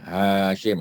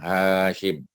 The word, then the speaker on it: Hashim: Ya, Hashim. Ha tu panjang. Hashim.